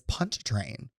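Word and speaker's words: Pontchartrain: you're pronouncing that wrong my word today is punch train don't ask me to spell it but I know it's got a Char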